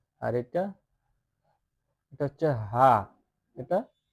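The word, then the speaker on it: ح: আর এটা এটা হচ্ছে হা এটা হা তাইলে হাটা তাহলে হাচ্ছে একটা হাচ্ছে আরেকটা তাহলে এটা একটু মানে একটু বড় কন্ঠ বলতে হবে যে হা মানে একটু আওয়াজ করে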